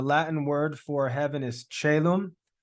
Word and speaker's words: caelum: It can be spelled either way. Either way, it's pronounced caelum, so it doesn't make a difference.